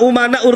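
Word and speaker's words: أمناء: bin smit Al ulama umanaur Rasul Tapi bacanya Al ulama amana rusul saya katakan salah kenapa Karena di sini umana jamah taksir ya para ulama itu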